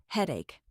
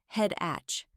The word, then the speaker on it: headache: Careful with the ending. It has a K sound, headache, not head-atch.